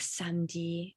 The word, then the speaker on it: samedi: And just to also, show you that samedi is pronounced as such, even though there's an E in the middle.